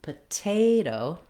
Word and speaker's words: potato: The first T in potato is stressed, and so it follows the same rule as the first T in tomato.